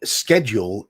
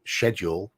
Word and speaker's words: schedule: down quick yes yeah schedule is the American way of saying it um schedule is how we say it which is odd because it's spelled the same way with SCH at the start as school for example but we